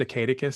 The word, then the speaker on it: Acadicus: I think it's technically pronounced Acadicus, so we're a little bit, we're calling it Acadicus because it sounds sort of like academy, academic, it's kind of, but it was named after this little owl.